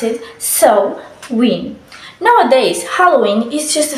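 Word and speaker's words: Samhain: Halloween is an adaptation of so a world pronounce it so wi nowadays Halloween is just a festival season where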